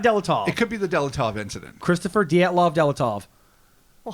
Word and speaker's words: Dyatlov: All right. Dyatlov. You did it. The Dyatlov incident. It is indeed. It's not Delatov?